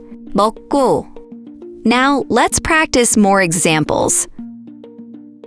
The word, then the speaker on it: 먹고: So in 먹고, 더 기억 after another, 기억 becomes 쌍기억, which is why we say 먹고.